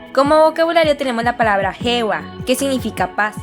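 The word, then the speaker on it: 平和: Como vocabulario tenemos la palabra hewa, que significa paz. Fíjate cómo esta palabra se escribe heiwa, pero se pronuncia hewa.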